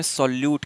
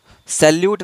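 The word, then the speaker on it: solute: कहते हैं उसको विलेज जिसे इंग्लिश में सलूट कहते हैं सैल्यूट नहीं सलूट एस ओ एल यू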